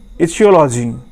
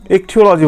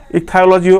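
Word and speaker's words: ichthyology: এই ফিশ নিয়ে যে পড়াশোনা হয় তাকে আমরা বলি হচ্ছে ইথিওলজি। ওকে, ইকথিওলজি বলি, অ্যাকচুয়ালি বলি এটা ইকথিওলজি, ইকথায়োলজিও আছে, উচ্চারণটা একটু দেখে নেবে।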